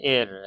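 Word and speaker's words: heir: सा रट लेंगे इसको एच इ आई आर को पढ़ते हैं एर है ना वारिस उत्तराधिकारी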